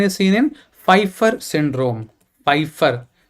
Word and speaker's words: Pfeiffer: seen in Pfeiffer syndrome Pfeiffer Piper my p is silent Pfeiffer syndrome fgfr1 gene